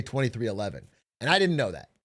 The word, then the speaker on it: 23XI: The team I call 23XI, but it's pronounced 2311. I was reading the Roman numeral, but real NASCAR heads just say 2311.